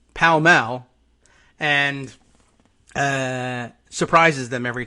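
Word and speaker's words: Pall Mall: carton or pack of what we would say as like paul malls but uh in in england is pronounced something closer to palmell and uh surprises them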